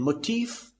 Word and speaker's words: motif: In motif, it occurs at the 2nd syllable, motif.